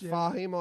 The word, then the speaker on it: Fahim: again yeah was it I might have been saying it wrong so Jonah fam is it or famous it's Fahim I believe I was talking to